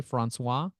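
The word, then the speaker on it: François: Francois, right? Did I say it correctly? Francois. He is following our LinkedIn company page. You can see he's following our LinkedIn company page. Did I say it right, Francois? Yes? That is correct.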